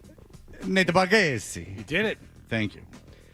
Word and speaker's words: Bargatze: I have to make it super Italian. Nate Bargatze.